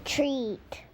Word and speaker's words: treat: Treat. Treat. Remember our Halloween word? Trick or treat. In treat, the long E sound is spelled E-A.